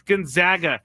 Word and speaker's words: Gonzaga: It's Gonzaga.